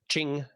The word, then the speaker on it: Qing: he said based Shing DynastyQing because Q is pronounced that way.Qing Ching dynasty history do the Taiping rebellion next based